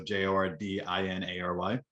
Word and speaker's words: Jordinary: So I came up with Never Jordinary as it sounds, never be ordinary. Yep. And I implemented my name. It's spelled Jordinary like ordinary is, so Jordinary.